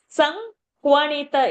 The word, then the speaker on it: संक्वणित: So Sankwanita is the pronunciation.